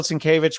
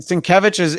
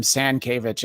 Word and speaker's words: Sienkiewicz: But McLeod is very easy, and they just And Sienkiewicz is hard to spell and it's hard to say. I was interviewing Claremont once, and I called him Sankiewicz, and he did not let that stand.